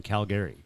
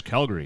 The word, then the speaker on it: Calgary: one time for saying Calgary yeah they probably don't like the emphasis on the syllables right they just slurred into one they're like it's Calgary and I'm like I'm